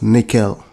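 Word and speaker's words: N1QL: talking about is the annual ql pronounced nickel this is designed to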